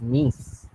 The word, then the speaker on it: niece: So that's why you pronounce it like niece.